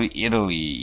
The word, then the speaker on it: Italy: 강세가 앞에 있어요. 강세받는 모음 다음에 T 사운드가 나오면 미국에서, 미국 영어에서 T가 유성음화 된다 그랬죠. 뭐, city, city, butter, butter 이런 식으로. 이것도 Italy가 Italy라고도 발음이 돼요.